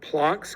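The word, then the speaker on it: Planck: And that H with a hat, we call that plunks constant, not plank.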